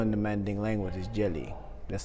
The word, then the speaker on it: djeli: The word for griot in the Manding language is Jeli. That's spelled D-J-E-L-O-I.